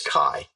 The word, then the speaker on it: Cai: My name is Cai. It's spelled C-A-I.